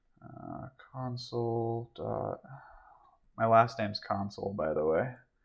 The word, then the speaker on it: Console: My last name's Console, by the way. It's actually Console, but it's spelled like console.